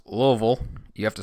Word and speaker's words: Louisville: It's pronounced Louisville. You have to say it like you Louisville. Have a mouthful of something. Louisville. Louisville.